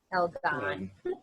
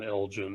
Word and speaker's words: Elgon: But my problem with the name is nobody knows how to pronounce it at first. Elgon. Elgon, Elgin, Eldon. They misread it.